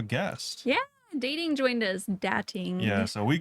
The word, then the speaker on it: Datting_: Dating.